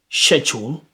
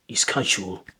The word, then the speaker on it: schedule: Do you say schedule or you say schedule? Schedule, schedule. So, I might say, in terms of British English, British pronunciation, if you're more likely to learn an RP accent, you want to learn a British accent, you might hear schedule a lot in the UK at the moment.